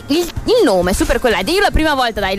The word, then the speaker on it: Supercollider: sentiti la prima volta ho detto Super Collider, no, assolutamente si dice Super Collider. Errore comune.